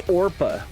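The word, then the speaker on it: Orpah: was a real name her real name is orpa after a Biblical figure though people would come commonly mispronounce her name well like Brett Favre Brit favor her name so often that she decided to just stick with it for the sake of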